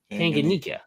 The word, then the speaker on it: Tanganyika: Tanganyika.